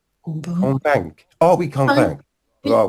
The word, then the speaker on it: convaincre: Convaincant. Non, on ne prononce pas la terminaison. Convaincre.